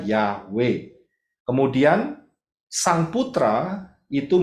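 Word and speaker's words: יהוה: itu mempunyai empat huruf baca dari kanan y he W he bacanya yahwe kemudian sang Putra itu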